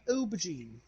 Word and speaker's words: aubergine: Wait, why does it's pronounced with an O, but it starts with an A.